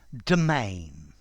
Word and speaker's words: demesne: Domain. Domain. Notice the pronunciation, domain, there's no S.